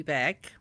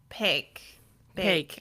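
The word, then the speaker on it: Baek: It almost sounds like it's like with a P at the beginning, right? But it's a A K. Yeah, it's spelled B A E K, but it it does kind of sound like pig bake.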